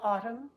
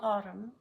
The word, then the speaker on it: autumn: column of trees in autumn he sang A Hymn when you have MN at the end of the word the N is silent say it with me